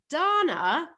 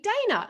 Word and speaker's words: Dana: in the u.s but my name is pronounced donna but americans call me dana so there we go